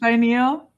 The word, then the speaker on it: pineal: So it's pronounced pineal.